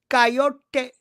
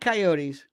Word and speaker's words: coyote: important Canadian Human Smugglers known as coyote not coyotes that's this is coyote you got you got to say it like that the coyotes are openly